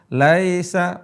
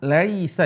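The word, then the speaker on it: ليس: beratkan kepada Laisa banyak baca Laisa pakai e Laisa Laisa yang benar pakai i lahum tho amun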